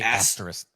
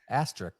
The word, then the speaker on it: asterisk: The little asterric. The thing you're saying asterric. Yeah. No, see, I say it the way you say it, but he says it correctly.